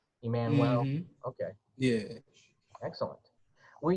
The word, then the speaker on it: Emmanuel: So so the U in there takes on a W pronunciation, right? Emmanuel.